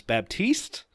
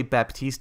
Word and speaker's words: Baptiste: get it wrong but it's Baptiste be a PT is te so think about teaster Baptiste it sounds like baptise I'm gonna say Baptiste a it's like goddamn